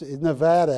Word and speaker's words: Nevada: I can say this Nevada actually is how you say it I can say this